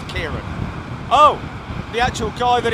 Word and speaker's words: Ciarán: as Kieran he said that his name is pronounced Kieran oh the ACT guy that it was named after who works for the Met Office okay okay well whatever yeah yeah so Kieran thank you and uh I don't know if